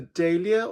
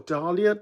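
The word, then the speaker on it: Dahlia: this one which is the daia or Dalia depends on how you say it and that's from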